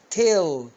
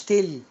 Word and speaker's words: tell: تيل. تيل يعني يخبر، مش تل. تيل. شوف لسانك لازم يخبط في ايه؟ في سقف بقك كده.